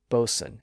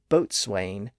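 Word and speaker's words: boatswain: g re n wi C but we don't pronounce the W today and if you're a sailor you're probably familiar with terms like bosen and coxen a bosen is a ship's officer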